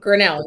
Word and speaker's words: Grinnell: Le today I'm joined By the Fantastic Nicole grenell Welcome to the show Nicole thanks for having me how did I go with the surname pronunciation you did great you did great excellent grenell you got it perfect wonderful all right so